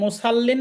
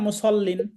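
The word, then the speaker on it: المصلين: للمصلين এটাকে মুসাল্লিন না মুসল্লিন? মুসল্লিন। মুসাল্লিন বললে এটা সদটাকে বাদ দিয়ে আপনি সিন বলবেন।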